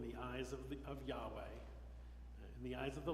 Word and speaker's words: Yahweh: to be verb so Yahweh we used to pronounce it Jehovah but Scholars figured out that pronunciation is not right that Yahweh is the right way to pronounce this Hebrew